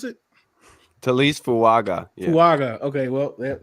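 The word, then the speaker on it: Taliese Fuaga: But next guy, Tyrese Fuaga. Is that how you pronounce it? Talise Fuaga.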